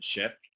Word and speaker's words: chef: And a chef, even though it's spelled C-H, you pronounce it chef.